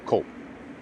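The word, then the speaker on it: Coop: it is not pronounced Coupe I I've asked many many many of my Italian friends it is pronounced cop just like cappuccino o cop there's a big cul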